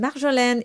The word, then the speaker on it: marjolaine: And marjolaine is just like capitaine because you have that syllable at the end of the word.